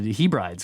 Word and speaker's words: Hebrides: says Curtis here again sorry to be a pronunciation Nazi but he brides is Hebrides hey Brittney Hebrides is